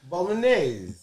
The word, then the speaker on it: Bolognese: Bolognese. There you go. It's Bolognese. I don't know how to pronounce it when I told y'all it was a bolognese sauce yesterday, motherfuckers.